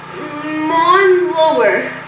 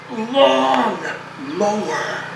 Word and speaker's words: lawn mower: Now, for the 10th time, pronounce it correctly. Mon lower. No! No! It's lawn mower.